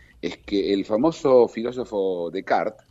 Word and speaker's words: Descartes: que el famoso filósofo de Cart, Descartes, como algunos lo llaman, porque así se escribe, ¿no?